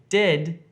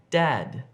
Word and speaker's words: dad: Don't say dead if you're trying to say dad. Dead, dad.